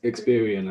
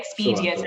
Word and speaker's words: Experian: begins with e exp i always say it wrong i think it looks good experian i think that's it i used to say expedia every month so i've stopped saying okay um yeah i think